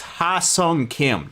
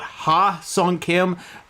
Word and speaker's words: Hye-seong Kim: I believe it's Hye-seong Kim, not Ha-seong Kim.